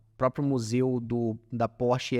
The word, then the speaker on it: Porsche: Quando a gente pensa na Alemanha, cara, vamos lá, SAP, Bosch, Stihl, Mercedes, Porsche, que é Porsche, na verdade, a pronúncia.